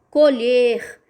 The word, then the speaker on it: colher: A informação que traz aqui é que esse E tem que ser pronunciado fechado. Como que vai ser a pronúncia? Colher.